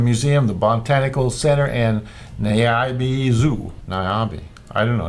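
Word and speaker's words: Niabi: planning your next Adventures Nairobi it's not Nairobi it's n i a b i naabi I bet it's naabi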